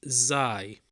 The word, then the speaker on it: زاي: Zai. 再见永远 Also called Zain, but the right way to call it is Zai, pronounced like the letter Z, which is also called Z.